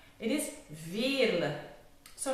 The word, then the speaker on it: Veerle: UK are saying not Veerle like the French ones, it's Veerle. I know it's difficult to pronounce, but it's a typical Flemish name, it's very common in here.